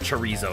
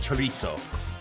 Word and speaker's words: chorizo: Ignore my American pronunciation of chorizo. It's just what I'm used to. I know it's more like chorizo, and it is so good.